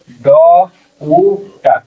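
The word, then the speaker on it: doubt: जाते हैं ठीक है यहां पर बी नहीं पढ़ा जाएगा ठीक है साइलेंट हो जाएगा ड उट डाउट डाउट जिसको बोलते है ठीक है यही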